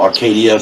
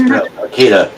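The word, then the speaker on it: Arcata: complaining no but yeah everybody pronounces the this town wrong they call Arcadia sometimes but it's Arcada just like Lydia pronounced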